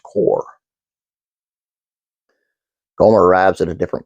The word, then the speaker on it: Corps: ribbing him uh but it should be noted that the word is correctly pronounced core goer arrives at a